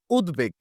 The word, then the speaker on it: উদ্বেগ: পদের সাথে যুক্ত হয় যদি বফালা সন্ধিবদ্ধ পদের সাথে যুক্ত হয় তাহলে সেখানে ব এরও উচ্চারণ হয় যার সাথে যুক্ত হয়ে থাকে তারও উচ্চারণ হয় বিশেষ করে এই প্রক্রিয়াটা ঘটে হচ্ছে দ এর সাথে এবং গ এর সাথে কেমন আমি একটা শব্দ